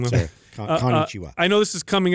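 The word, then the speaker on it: こんにちは: Konnichiwa. Yeah, yeah. I said it wrong though. Konnichiwa.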